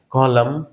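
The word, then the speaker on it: column: এম এন যদি শেষে থাকে তাহলে সেখান থেকে এন সাইলেন্ট করে দিবা। কলম, অটম, হিম, এটার উচ্চারণ কিন্তু হিম, এনটা কিন্তু সাইলেন্ট।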